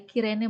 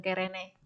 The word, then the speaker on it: Kirene: bisa diperbaiki Simon dari kirene bukan karene key kamu perbaiki kirene sama dengan yang B